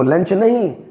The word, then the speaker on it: luncheon: Interval भी कहते हैं, लेकिन लंचन एक अलग वर्ड है। जब हम किसी को लंच के समय दावत पे बुलाते हैं, पार्टी देते हैं, तो वो लंच नहीं लंचन बन जाता है। और स्पेलिंग LUNCHEON।